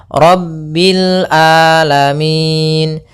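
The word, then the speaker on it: رَبِّ الْعَالَمِينَ: Hati-hati jangan sampai merubah huruf ainnya menjadi hamzah. Banyak yang terjadi kesalahan dalam pelafalannya yaitu mengganti dengan alif atau hamzah. Maka dibaca rabbil alamin harusnya rabbil a rabbil alamin alamin ya rabbil alamin.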